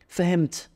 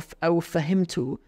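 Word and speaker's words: فهمت: Fahimt, I understood. Or fahimtu, if you want to pronounce all of the vowels in it.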